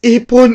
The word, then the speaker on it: ipon: Please, ipon, ipon, ipon. Ipon rhymes with hipon.